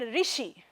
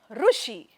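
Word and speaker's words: ऋषि: Rishi can be pronounced like Rushi. How many of you actually pronounce like Rushi? A lot of people pronounce Rushi. Rishi and Rishi, we have 2 types of pronunciations, but the sound is same, Rikara. So in different geographical locations,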